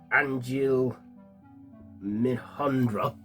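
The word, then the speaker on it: Anjli Mohindra: by um, yeah, played by the uh, yeah, Angel Minhandra, that's how you say her name.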